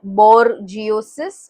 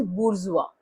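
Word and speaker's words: bourgeois: How would you pronounce this word? B आर जियोसिस और बोर जियोसिस ऐसा कुछ आप प्रोनाउंस करोगे। But that is incorrect. The way this is pronounced is बुरजुआ। ठीक है? इट्स a French word called बुरजुआ।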